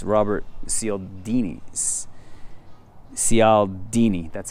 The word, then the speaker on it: Cialdini: Cialdini, that's how you say his name, I'm pretty sure.